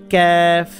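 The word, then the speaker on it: كاف: মাথাটা খেয়াল রাখতে হবে এটার নাম হচ্ছে কফ কফের উপরে দুই নুকতা কফ জিব্বার গোড়া থেকে উচ্চারণ করতে হবে এটা এটা হচ্ছে ক্যাফ জিব্বার গোড়া যেখান থেকে উচ্চারণ করছেন তার একটু সামনের দিকে আনলে যেটা হয় সেটা হচ্ছে ক্যাফ ক্যা ক্যা ক্যাফ এটা কফ এটা ক্যাফ কফ এবং কাপের যে পার্থক্য এটা আমাদের খেয়াল রাখতে হবে এইটার নাম হচ্ছে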